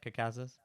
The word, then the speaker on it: Caucasus: And now that I've said that word 3 times, am I saying it right, Caucasus? Yeah.